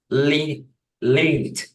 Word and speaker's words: learned: Is learned. Learned. Perfect. Learned. Learned. And this one pronounces like a D.